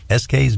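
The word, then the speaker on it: ESKAYS: Sarah is a Long Islander, and she's the owner of SK's Music Lessons in Syosset, and that's spelled E-S-K-A-Y-S. It sounds like the initials S-K, but it's not.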